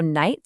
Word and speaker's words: night: Kind of like the ch in the German name Bach. So, night sounded way more like knisht.